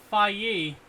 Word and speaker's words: Phage: It's pronounced Faye, and he was upset I didn't know what Phage was.